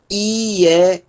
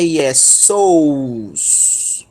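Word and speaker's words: Ἰησοῦς: Então, nós temos aqui, ó, IESUS. IESUS. Professor, não é IESOUS. Não. O ditongo ômicron Y, eu estou acabando de dizer, ele é pronunciado como U, tá?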